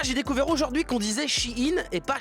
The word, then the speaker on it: Shein: chinois Shein déjà j'ai découvert aujourd'hui qu'on disait Shein et pas Shine rien que pour ça ça me pète les